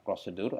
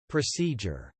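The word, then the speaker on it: procedure: hai oke kata ketiga yang kita perlu perhatikan pengucapannya yang artinya adalah prosedur atau langkah-langkah ya mungkin karena pengaruh bahasa Indonesia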